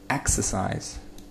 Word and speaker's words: exercise: Э, exercise. Вот первый слог под ударением.